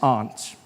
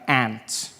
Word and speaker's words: aunt: For instance, I pronounce the opposite of uncle as aunt. I say my aunt. out here. You say my aunt, which to me is an insect, which made me look